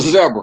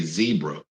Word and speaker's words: zebra: And you notice I didn't say zebra. I said zebra because my good friend, comedian Trevor Noah from South Africa, told me the proper way to pronounce zebra and not zebra.